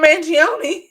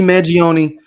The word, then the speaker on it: Mangione: had it written down isn't it Manion Manion yes Luigi Manion listen I only know